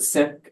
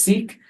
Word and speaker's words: Sikh: Down in the lower left, my Sikh cabbie, they pronounce it Sikh, what we more commonly hear as Sikh.